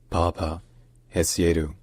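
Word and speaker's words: Paapa Essiedu: So, his full name is pronounced Papa Esu. Papa Esu.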